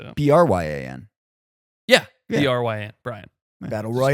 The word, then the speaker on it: Bryan: Bryan.